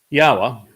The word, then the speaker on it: Yahowah: Yahowah, which is the proper pronunciation of Yod-He, Wah-He, he is our Elohah. The O sound from Elohah, God, is provided by the Wah, and it is concluded by the Ah sound in Yahowah's name.